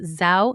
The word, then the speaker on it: Zhou: why I'm excited to talk to you about Zhou Nutrition. It's spelled Z-H-O-U, Zhou Nutrition.